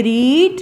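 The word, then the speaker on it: read: रीड हम लिखते रीड ही हैं तीनों फॉर्म्स में, रीड, रीड, रीड, ठीक है। फर्स्ट फॉर्म में हम इसको रीड पढ़ेंगे, सेकंड में हम इसको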